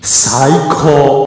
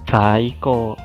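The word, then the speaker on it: 最高: We say Saiko. Saiko. Saiko. Saiko. Good, good. The opposite word of Saiko is Saite. Saite. So repeat after me once again. Saite. Saite. Perfect. The best is Saiko.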